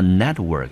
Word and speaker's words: network: 可以当做工作，那 network 两个字合在一起，